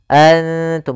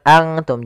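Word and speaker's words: أنتم: huruf nun itu sendiri Antum bukan Antum jadi jangan semua huruf ikhfa itu baca Ang Ang Enggak karena dia ikhfa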